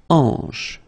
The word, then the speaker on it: hanche: La hanche. Remember, H here is not pronounced, so you get the sound en, hanche at the beginning.